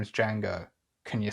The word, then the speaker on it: Django: the bar where uh django set him and uh he's like oh yeah and he's like my name is django can you spell it he's like d-j-a-n-g-o the d is silent train movement and they